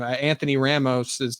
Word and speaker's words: Anthony Ramos: Anthony Ramos.